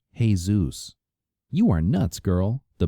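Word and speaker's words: Jesús: And when I was on vacation in Florida, I even slept with a Jesus, though he pronounced it, "Hey, Zeus."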